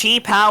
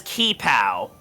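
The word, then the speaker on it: qipao: So is it pronounced Chi-Pow with like a CH sound? I think so. I mean, I've always pronounced it as Ki-Pow.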